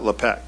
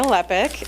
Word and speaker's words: Lepic: Leek. Sorry. Epic. It rhymes with epic. Yeah. Uh, hold on a second. Good evening. Thank you for your time. My name is Lepic and I am a